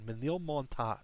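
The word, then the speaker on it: Ménilmontant: I actually looked up how to pronounce that one because I looked up a video on Manil Monta is how that's pronounced.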